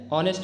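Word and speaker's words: honest: present ठीक है और ऐसे वर्ड्स जो कि शुरुआत होते हैं जिनकी शुरुआत होती है एच से लेकिन उनमें एच साइलेंट होता है जैसे कि एन आर an honour N एयर एन ऑनेस्ट मैन तो इन केसेस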